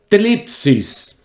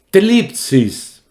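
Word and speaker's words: θλῖψις: La palabra griega que se traduce tribulación es una palabra que tiene una pronunciación un poquito rara en griego. Tlipsis. Tlipsis.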